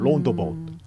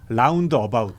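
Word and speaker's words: roundabout: 라운드 어바웃. 라운드바 로타리. 론도바. 회전 교차로. 아 그래요? 네. 그 회전 교차로를 네. 라운드 어바웃이라고 쓰고 여기 발음으로는 로운더바웃. 이렇게 로운더바웃.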